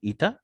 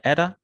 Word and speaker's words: eta: जी, इसको कहते हैं, इसको प्रोनाउंस करते हैं जी ईटा या एरा, जैसे वो अमेरिकन कहते हैं, ETA लिखते हैं जी इसको।